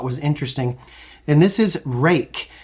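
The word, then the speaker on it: Ruike: I really thought was interesting and this is rake it's spelled r UI ke e and I picked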